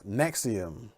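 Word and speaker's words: NXIVM: is mix of them yeah mix of them pronounce nexium these is a group that started in 1998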